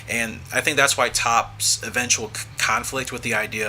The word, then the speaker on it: Toppo: Top, or Toppo, for example, and I know it's pronounced Top, but just either way, he's probably the clearest representation, obviously, of the organization's traditional ideology, right?